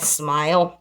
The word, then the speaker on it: Smyl: This is called Smile. That's the way it's spelled. SMYL.